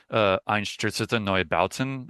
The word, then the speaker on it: Einstürzende Neubauten: I know like Einstürzende Neubauten, Yes.